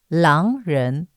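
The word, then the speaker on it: 狼人: l oh gosh so L is Wolf Ren means human say again or person L Ren right I'll put on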